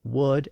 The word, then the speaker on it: would: explain why words like would and should are spelled with an L even though we don't pronounce those L's today will produced Old English